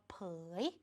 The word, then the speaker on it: เผย: จะ ออก เสียง ยาก ออก เสียง พร้อม ๆ กัน นะ คะ ผอ ยอ เผย ผอ ยอ เผย คำ ว่า เผย จึง เขียน แบบ นี้ ค่ะ เด็ก ๆ ตัว